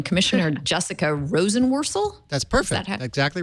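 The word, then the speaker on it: Jessica Rosenworcel: and then I'm going to need Larry's help pronouncing her in last name commissioner Jessica Rosen worel that's perfect exactly right wonderful she she at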